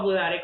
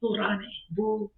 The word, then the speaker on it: budare: You don't make We have a budare because we make arepas. Yeah. You know what I'm saying? How do you say it again? Arepas. No, I know. I'm sorry. Budare. Budare. Budare. Burrane.